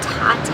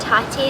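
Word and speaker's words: Tatte: coffee shops in bakeries it's called Tate I I think is how you say it T a tte e we've been to this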